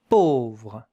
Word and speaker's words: pauvre: Pauvre, A-U. These two letters make the sound O, not O. O. Pauvre, pauvre. V-R-E at the end. But the E, you don't hear it.